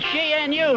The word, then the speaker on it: gnu: new too canoe is gnu new the g is silent there's one thing you've